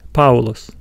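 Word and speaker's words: Παῦλος: letter in the diphthong, so we do not pronounce this word as paulos, paulos, no, we still say paulos, paulos.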